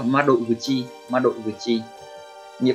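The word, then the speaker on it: 窓口: Cách đọc của nó là ma đội vừa chi, ma đội vừa chi.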